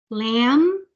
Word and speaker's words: lamb: check Jake man mean lamb so that's a silent B you don't say the sound of B you end with the sound of M Lam lame the man